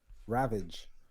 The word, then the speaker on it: Ravage: thought it was R you said Revenge it's not Revenge it's ravage it's ravage r a v a g e okay ravage all right my bad ain't no n there ravage GP I'm adding it